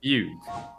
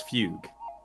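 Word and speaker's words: Fugue: I say fug fug so that's how you say it fug okay so it's fug fluffy Tails very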